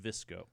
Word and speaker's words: VSCO: the same as the vsco is actually pronounced visco okay my bad sorry